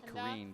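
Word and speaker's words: Ní Churraoin: I'm saying Kareen, but her mother's probably listening at home, and she will be scrutinizing my pronunciation. But I would say Sienna Kareen.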